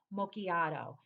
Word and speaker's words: macchiato: but anyway this has been in vanilla macchiat macchiato i can never pronounce like certain words correctly so it's vanilla macchiato now i am not going to lie since